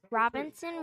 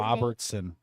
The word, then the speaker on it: Robertson: Our Comet activity sponsors are Robinson Real Estate. Robertson. I said No, Robertson. you said Robinson. Say it correctly. I said Robertson Okay.